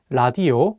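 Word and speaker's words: 라디오: let's take the word ladio which means radio and this word the consonant Le is at the beginning of the word so it will have an l sound let's do another example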